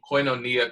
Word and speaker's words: Koinonia: business is, and I'm going to attempt to pronounce it correctly because I know I've messed up before. So it's Koinonia Coffee.